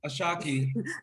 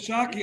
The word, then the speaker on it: Ashaki: tearing up over here a shockie i love you will okay you're gonna make me feel like a million bucks after this interview but it's jockey i'm from new york i say it like it is yeah you